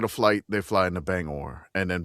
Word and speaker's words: Bangor: flight, they fly into Bangor, and then Bangor is like what, or Banger, whatever. I don't know how to say it. Banger. it's banger. Banger.